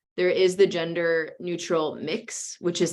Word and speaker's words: Mx: and like Ms., there is the gender neutral mix, which is like MX. So that kind of removes the R from Mr. and removes the S from Ms. And so it's pronounced mix.